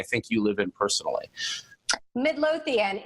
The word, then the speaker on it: Midlothian: in and I think you live in personally Midlothian it's about ten minutes away from Richmond Center